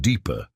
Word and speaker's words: DEPCR: Reginald was the head of the Department of Extraterrestrial Preparedness and Cosmic Relations, or DEPCR, which everyone pronounced deeper, because government acronyms were required by law to be either unpronounceable or accidentally inappropriate.